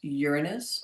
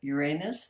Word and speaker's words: Uranus: Saturn, and then next comes Uranus or Uranus, depending on how you want to pronounce it.